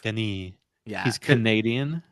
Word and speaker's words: Villeneuve: Dennis Villeneuve. Villeneuve. I think it's pronounced Villeneuve or Villeneuve. It's not Dennis Villeneuve. I think it's Villeneuve. Villeneuve, yeah. Villeneuve. Denny Villeneuve. Denis.